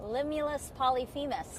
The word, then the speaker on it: Limulus polyphemus: Limulus polyphemus.